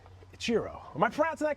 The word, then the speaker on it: Ichiro: You could also say Ichiro, but that's what my mom says, but I I I answered everything. Itchiro is how I pronounce it.